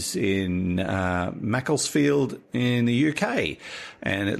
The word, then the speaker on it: Macclesfield: it's in the north of England so it's pronounced Macclesfield with a very short flat field a high